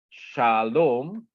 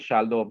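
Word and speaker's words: שלום: look at this one Shalom right it opened with the CV sha okay this one here Sha Sha okay so this is a CV is a open syllable okay open syllable it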